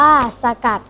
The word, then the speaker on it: สกัด: ใจ ควร รู้ ด้วย คำ ว่า สกัด อ่าน ว่า สะ กัด หมาย ถึง เคน แยก